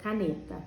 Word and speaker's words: caneta: Então, por exemplo, caneta. Eu vou fazer de conta que caneta é um ser que eu vou chamar. Então, eu vou gritar ela, caneta! Quando eu grito, ó, caneta, a sílaba tônica, ela fica mais comprida. Eu vou falar ela bem alongado.